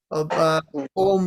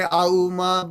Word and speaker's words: Om: Mantra, you begin with Om Bhurbhuvasva Om Tatsavitur Varenyam. You don't say Auma Tatsavitur Varenyam. That's not how you say it, right?